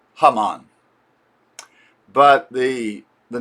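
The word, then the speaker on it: Haman: They say that he his name comes from the villain in the biblical book of Esther whose name in Hebrew is Hammon.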